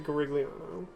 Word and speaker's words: Garigliano: to go back to Garigliano. I don't care what the game says or what anyone else says, you pronounce all the G's. There are no silent G's in that name.